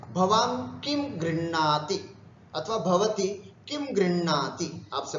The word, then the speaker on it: गृह्णाति: गृह्णाति, गृह्णीतः, गृह्णन्ति, गृह्णासि, गृह्णीथः, गृह्णीथः, गृह्णामि, गृह्णीवः, गृह्णीमः। उच्चारण कैसे करेंगे इसका, गृह, गृह, हलंत है, गृह, और णा पूरा है, तो गृह और णाति, गृह्णाति, गृह्णीतः, गृह्णीतः, गृह्णन्ति, गृह्णासि, गृह्णीथः, गृह्णीथ, गृह्णामि, गृह्णीवः, गृह्णीमः।